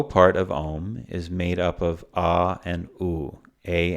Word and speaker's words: Om: Much like Om is Om, not Aum. Occasionally you may hear people pronounce the A and U, but they are taking things a bit too literally.